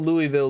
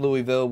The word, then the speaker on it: Louisville: like I would call Louisville Louisville and I know a lot of people from Louisville would call it Louisville you know but I would call it Louisville thank you a thinker